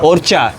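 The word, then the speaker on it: Orca: अभी क्या है, लंच करेंगे नुसा पेनिडा के एक बीच क्लब में, ओरका करके नाम है, ओरचा। एक्चुअली CA को ये लोग चा बोलते हैं, जैसे कि आपको पता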